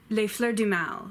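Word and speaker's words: Les Fleurs du mal: and she wrote Nate dumar lay flaw g-man La Fleur du mal which translates to the flowers of evil but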